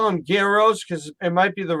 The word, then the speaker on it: gyros: It's spelled with a G. I call them gyros. Gyros, right? Yeah. If you ask the Greek guy, he's Greek, and there's no G, it's just a Y.